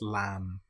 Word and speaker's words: lamb: An example might be lamb or comb. Here we don't pronounce the B. We don't say lamb. It's just lamb or comb.